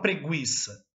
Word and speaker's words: preguiça: Só que você fala preguiça, porque é um dígrafo G e U. Tem som de G.